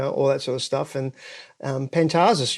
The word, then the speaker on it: Pantazis: sort of stuff, and Pantazis, yeah, that's the Greek pronunciation, the Australian pronunciation. It's actually in Greek you would say Pantazis, So so the accent changes, the emphasis totally. On the emphasis, the emphasis on the different syllable, right?